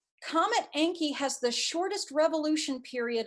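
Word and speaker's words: Encke: notably there is a comet named comet enki and it's spelled e-n-c-k-e comet anki has the shortest revolution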